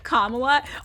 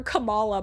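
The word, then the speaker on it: Kamala: Yeah, I got cancelled for mispronouncing Kamla. Also, everybody in California has called her Camala my whole life.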